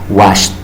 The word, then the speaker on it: washed: Aquí lo pronunciamos correctamente y decimos washed, washed.